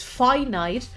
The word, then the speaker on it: finite: I'm still annoyed by the fact that it's pronounced finite, but the opposite is pronounced infinite.